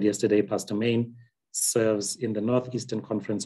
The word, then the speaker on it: Manie: My last name is pronounced Manie, M-A-N-I-E is Manie.